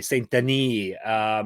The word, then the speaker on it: Saint-Denis: And today is all about UFC Fight Night, Boycano versus Saint-Denis, aka Saint-Denis. I'll say it properly. Saint-Denis.